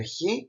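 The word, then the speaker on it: Χ: to pronounce the letter he so it is pronounced the letter he it is written exactly as the letter X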